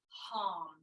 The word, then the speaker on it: Ham: And just like the thing some people like to eat, ham, that's how it's spelled, but we'll say it like hum.